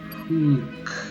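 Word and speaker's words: Houk: Oh god, I just realized this is another situation with the Hauk. H-O-U-K. Pronounce that for me. Hauk. Hook? Hook.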